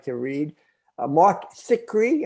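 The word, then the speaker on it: Zicree: like to read mark thickery am i pronouncing that correct sick cree yeah he so uh he's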